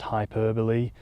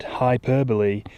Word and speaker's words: hyperbole: Um, in my Andor video, I think I pronounced hyperbole as hyperbol because not because I think like I thought that was how you said hyperbole. It's because I thought they were two words.